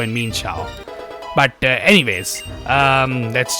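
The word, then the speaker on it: Mienshao: And by the way, yes, it's actual pronunciation is meansho, not mesh or mianfu as people like to call it.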